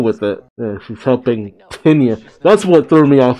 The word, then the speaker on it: Tinya: I didn't know that's how you pronounced it. Tinya was a phantom girl. I always said it was, I thought it was just Tanya.